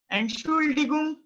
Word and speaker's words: Entschuldigung: And Schule, and Schule, and Schule, die Gung, Entschuldigung, excuse me, Entschuldigung, excuse me, right? Excuse me. Try to pronounce it.